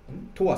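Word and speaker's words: 永遠: 、はい、永遠と書いてトワと読むんですね、キラキラネームですね。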